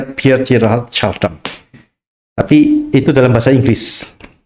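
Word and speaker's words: Pierre Teilhard de Chardin: Tulisannya itu Piere Tielhard Chardin dibacanya Pierhard Shardam.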